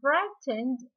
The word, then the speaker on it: frightened: Okay, and frightened اللي هو G with H are silent letters.